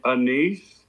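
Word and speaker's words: anise: Because he loves Annis and that's tastes like I think Randy it's called a a niece. It probably is. That doesn't taste like you can make the a long a sound and go anus.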